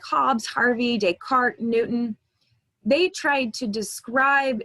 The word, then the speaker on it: Descartes: René Descartes, it's probably a name you've heard before. It's pronounced Descartes.